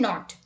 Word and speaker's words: knot: Let's look at a seventh word with silent letter KN. Let's look at the examples. Knack, knee, kneel, knife, no, night, knuckle, knit, knob and knot.